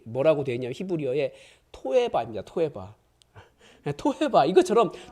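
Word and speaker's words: תועבה: 토에바 이것처럼 토에바인데 정확한 발음은 토에바인데 그걸 역겨워하시는 거예요.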